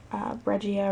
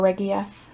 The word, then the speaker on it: Regia: and Carlos line from regia or regia feel like it's regia I feel like it has a hard G but anyway so usually